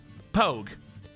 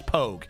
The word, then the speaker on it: pogue: branches pogue pogue pog you wouldn't say pog that's not pog i know what you're going with i know you're trying to make fun of my pronunciation no no that that that's like an army joke acronym thing it's pogue you call someone a